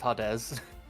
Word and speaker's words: Hades: out that most uh in Japanese the way people it is literally how they pronounce Hades is hadz yeah I think we've